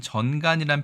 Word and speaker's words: 전간: 자, 이 글자는 우리가 전간이라고 읽습니다. 전간. 요즘에는 전간이란 표현을 쓰지 않고 뇌전증의 전용어다 이렇게 얘기합니다.